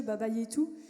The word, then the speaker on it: Baba Yetu: Donc il y a plein d'ambiances différentes dans tous les styles, notamment le dernier que tu as très bien prononcé, Mathieu, Baba Yetu, qui est un thème qui est tiré d'un jeu vidéo qui s'appelle Civilisation, pour ceux qui connaissent.